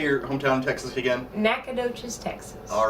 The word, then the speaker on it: Nacogdoches: how do you say your hometown texas again nacogdoches texas all right anytime we gotta bring that